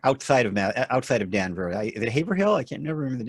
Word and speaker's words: Haverhill: Is it Haverhill? I can't never remember the name of your town. Yeah. You pronounce it like an out-of-stater. Haverhill, Massachusetts is Haverhill.